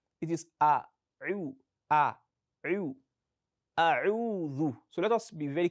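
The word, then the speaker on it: أَعُوذُ: Some people pronounce as A'uzu. That is Za. It's not Dhal.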